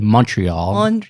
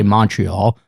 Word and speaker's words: Montreal: proud native of montreal he says montreal americans say montreal often seen wearing his